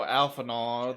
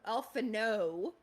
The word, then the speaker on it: Alphinaud: Alphanaw, the freaking actual talker here. Oh, yeah. Alphano. Yeah, Actually, Alphinaud, it's better to he ask.